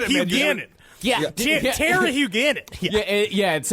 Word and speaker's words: Huguenin: Yeah, Terry Huguenot. It would be actually be Terry Huguenin, but Thierry I can take the names if you want me to.